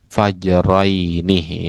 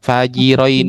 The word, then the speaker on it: fajrain: Anna lil isyai wakta karohatin wahua ma bainal fajraini. Ya bukan fajirraini.